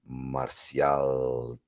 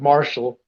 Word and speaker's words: Martial: good friend Mr Andy martial Puerto Rico he actually pronounced my last name really good I know everybody else kills it they're like Marshall like no that's not how you say it and the Marshall